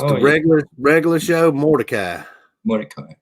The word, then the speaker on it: Mordecai: Mordecai. That's how you pronounce it.